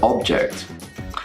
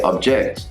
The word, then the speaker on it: object: another one-minute pronunciation tutorial today we're going to be talking about how to pronounce words that are both nouns and verbs for example of progress and progress first you need to make sure that you know whether the word is a noun or a verb for example we are